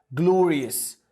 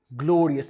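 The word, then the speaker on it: glorious: بتاعها اونرد بالاي دي جلوريس جلوريس جلورياس معلش مره كمان جلورياس جلورياس معناها حاجه عظيمه او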